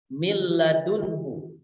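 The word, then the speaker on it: مِن لَّدُنكَ: adalah ketika menghadapi lam mil ladunka Min ladunka merupakan cara bacanya adalah leburkan bunyi nun sukun itu tepat dalam mil ladunka seolah-olah not itu hilang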